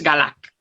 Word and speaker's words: Galac: diosa de la carne, ahí se da una pronunciación, digamos, más aproximada a como nosotros lo diríamos, al menos en latín, que es Galac. Galac. Galata. Aunque se escribe en principio, se entiende que se diría como Glac, sin la A, pero esos textos ahí, en fin, que ya se Vale. irá descubriendo, es Galac. Vale.